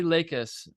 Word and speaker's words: Lakis: last name is always the hard one lakis um yeah and this is the Eric Swan